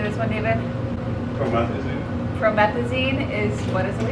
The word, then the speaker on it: promethazine: Promethazine.